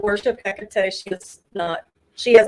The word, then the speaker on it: Hecate: I don't know how to pronounce that. Do you know? Do you believe in Hecate? Hecate? Hecate? Hecate.